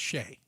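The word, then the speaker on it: Chelly: C H E L L Y is pronounced Sheay.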